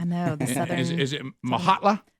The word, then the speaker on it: Mokgatla: Is it Mokgatla? Mokgatla.